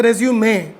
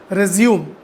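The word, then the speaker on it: résumé: First thing is, I would like to correct a few pronunciations. You call it the resume, okay? You do not call it resume.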